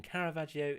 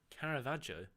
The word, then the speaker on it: Caravaggio: Mortimer Madsen, Caravaggio is pronounced without the I. Caravaggio? Okay, I mean, if you are Italian, I'll take your word for it. Caravaggio. I guess it's a really subtle I.